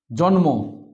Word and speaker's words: জন্ম: আমি লিখে রেখেছি গ দন্তন্য ল ম যদি এই চারটি বর্ণের সঙ্গে ম ফলা থাকে তাহলে আমরা সেই ম ফলাকে উচ্চারণ করব যেরকম জন্ম দন্তন এর উদাহরণ আছে জন্ম ন এর নিচে আছে ম এখানে তাই এটা জন্মতে ম উচ্চারিত হচ্ছে গুলম এইযে ল